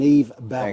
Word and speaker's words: Yves Baron: Well, look, from the Expat Club, we can strongly recommend Yves Baron. Thank you so much. I pronounced that properly.